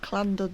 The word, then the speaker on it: Llandudno: into the irish sea from london now or clandered no i should say anything with a double l is pronounced clap in welsh and i just look